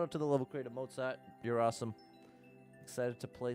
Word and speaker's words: Mozzart: Creator who goes by Mozart mozz like mozzarella but pronounced more like the composer shout out to Mozart